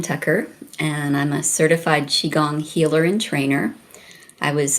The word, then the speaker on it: Qigong: I'm just curious, did you have any kind of health issues yourself that got you to, is it properly pronounced Qigong? It's Qigong. It is Qigong.